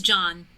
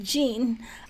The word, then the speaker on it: Jean: Hi, my name is John. So then I would have to change this so that they know that this is pronounced Jean. AI voice isn't quite precise. They think Jean is pronounced John, but maybe because Elizabeth doesn't understand the difference.